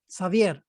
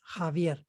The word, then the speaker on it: Javier: eggs i'm there is many people call it savier javier we call it javier some people will say savier some people will say havier it depends on the whatever you